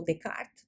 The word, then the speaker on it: Descartes: Embora tenhamos avançado muito desde o tempo de Descartes, ou Descartes, como se fala em francês, que postulou que a